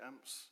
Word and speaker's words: AMHP: practitioner or professional, because, and it's spelled with an H, so it's AMHP, because we say AMP, but yeah, just in case people don't know out there what it means.